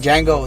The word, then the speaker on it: Django: Like Django, the D is silent.